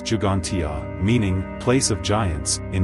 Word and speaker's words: Ġgantija: Gantia, pronounced Jugantia, meaning place of giants in Maltese, is a megalithic temple complex that predates Stonehenge and the Great Pyramid of Giza.